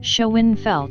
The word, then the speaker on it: Schoenfeld: It's pronounced Schoenfeld.